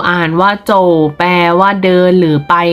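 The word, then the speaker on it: zǒu: ชาย และ น้อง ชาย z o u อ่าน ว่า โจทย์ แปล ว่า เดิน มอง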